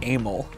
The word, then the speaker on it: Emil: Well, first of all, my middle name's actually pronounced Emil. Emil? Like, it sounds like anal.